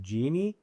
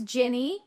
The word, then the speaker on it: Gini: And I asked her and I said, how do you really want to pronounce it? Is it Genie or? And what did you say? I said it's Ginny, like a gin and tonic, and a me.